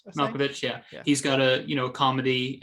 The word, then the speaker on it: Malkovich: character, and that actor, John how do you pronounce his last name? Malkovich.